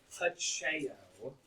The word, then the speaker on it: Pacheco: Pacheco is how that name would be pronounced.